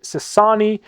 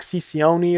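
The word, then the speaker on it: Cecconi: Slade Sassani, I believe is the pronunciation. I was calling it like Cicioni or something. I'm not exactly sure on the pronunciation of this man.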